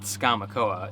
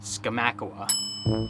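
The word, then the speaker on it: Skamokawa: at a small creamery in the town of skomakowa i was pronouncing it wrong up until we got there not skamakoa it's skamacawa these washington names the owners and farm hands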